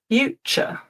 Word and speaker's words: future: So, while you're thinking, words ending t u r e. This is another one where I commonly hear mistakes and the ending is pronounced ch. culture, furniture, adventure, future.